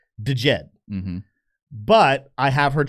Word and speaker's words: Djed: It's Jed and and and some people do call it DJed. And technically speaking, if you look it up on Google how to pronounce this word, it says the right pronunciation is de Jed.